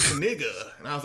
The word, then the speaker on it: Knigga: And it was like Knigga, and I was like, come on, no other English language like KN, like knife, knight.